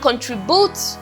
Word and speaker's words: contribute: We have contribute. This is second to the last syllable.